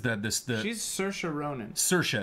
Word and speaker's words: Saoirse: this thing Saoirse Ronan Saoirse is how she pronounces it that's how Irish people pronounce that Siobhan is a different